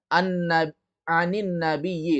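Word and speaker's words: عن النبي: Kalau an ketemu alif lam menjadi ani. Paham tak? Jadi jawabannya apa? Karena memang orang Arab mengucapkannya seperti itu. Ada kaidah-kaidah yang menyebabkan orang Arab membacanya demikian.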